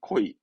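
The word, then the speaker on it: 故意: 고이가 아닙니다. 발음은 코이. 예, 코이. 그래서 고이로 하면 뭐 코이니 이러거든요.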